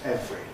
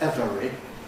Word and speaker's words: every: The word every, for example, is really always pronounced just as two syllables, every. A possible uncompressed every sounds extremely artificial and is not not in practice used.